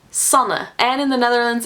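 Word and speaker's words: Sanne: Once in a while, my name is pronounced Sana, and in the Netherlands, it's about as common as being called Sarah.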